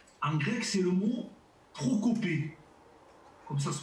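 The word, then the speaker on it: προκοπή: le mot progrès, en grec, c'est le mot prokopé. Comme ça se prononce, prokopé.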